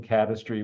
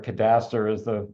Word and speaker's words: cadastre: The website, the Marine Cadastry website, or cadastre as the way it should be pronounced.